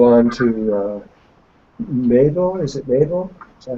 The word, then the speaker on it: Mabel: Is it Mabel?